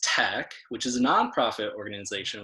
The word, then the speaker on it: TEC: So we're the Energy Coalition, also known as TEC, pronounced TEC, which is a nonprofit organization with 45 years